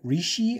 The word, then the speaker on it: Reishi: all these this is red Rishi I think is how you pronounce that rishy mushrooms uh basically what